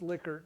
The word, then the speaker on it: Likert: scale pronounced Likert but spelled Likert but it's pronounced liquor like like that spelling although this is the